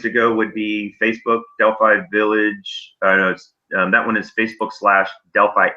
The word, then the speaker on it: Delphi: And I pronounce it Delphi, but it is certainly proper to pronounce it Delphi, which is the more European way. Okay. Our resident Bulgarian used to pronounce it that way. He's converted himself, but either way is right.